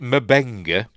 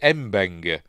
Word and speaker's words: Mbenga: And then Scotty pronounces it Mabenga. There he is, Dr. Mabenga. Scotty pronounces it Mabenga, but Mabenga pronounces it Mbenga.